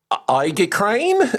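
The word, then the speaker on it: aegicrane: exactly how you say it, but it's I crane. So, a E G I C R A N E. That's a classical ornament of a ram or goat head or skull in I crane.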